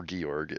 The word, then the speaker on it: Georg: Or Georg, if you want to pronounce it the correct way.